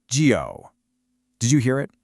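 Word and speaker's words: 九: Pronounced gio. Did you hear it? It has that same falling rising tone we heard with the number five.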